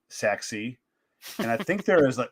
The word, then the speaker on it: Sachse: Next to that's the Sencut Sexy, SACHSE. I had to look this up. Like, how do you say this, Sencut? Like, they spell it one way and they want you to say sexy.